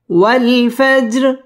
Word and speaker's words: والفجر: ওয়াল ফাজ জিম কলকলার হরফ ধাক্কা দিয়ে পড়তে হবে। ওয়াল ফাজর র এটা বারিক হবে।